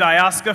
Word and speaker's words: Ayaska: My name is Ayaska, and the easiest way to remember it is to say I ask her.